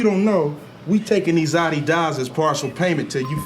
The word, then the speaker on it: Adidas: You know, for years, I thought this dude was just calling the shoes Adidas to be funny. And I used to say it all the time just to be silly, until I realized that was actually the correct way to say the name of the shoes.